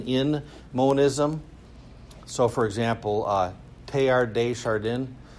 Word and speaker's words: Teilhard de Chardin: So, for example, Teilhard de Chardin, so it's pronounced, it's spelled like tail hard, but anyway, Teilhard de Chardin, so he would talk about the cosmic Christ.